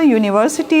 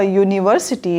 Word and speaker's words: university: is wobble and here university is also starting with u so both are vowel letters but what about their sound they sound as consonant sound europe is pronounced year and here university is also pronounced yeah